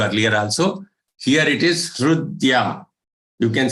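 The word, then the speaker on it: हृद्य: Here it is Hrudya. You can say Hridya, you can say Hrudya. Both are acceptable.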